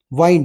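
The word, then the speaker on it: wind: विंड और वाइंड की spelling same होती है। ठीक है? एक डब्ल्यू आई एन डी विंड होता है। विंड मींस होता है हवा। ये इनकी प्रोनाउंसिएशन बस स्पेलिंग सेम है। दोनों की प्रोनाउंसिएशन अलग-अलग है। डब्ल्यू आई एन डी विंड। विंड होता है हवा। एयर और डब्ल्यू आई एन डी वाइंड। वाइंड होता है लपेटना।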